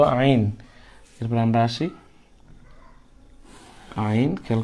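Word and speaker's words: عين: সুতরাং এটার নাম হচ্ছে আইন আইন হলকের মধ্যখান থেকে আমরা আমাদের যে এখান থেকে আমাদের আওয়াজ বাহির হয় সেখানে একটু চেপে আমরা উচ্চারণ করবো হার মতো হা আইন হা আইন মাখরাজ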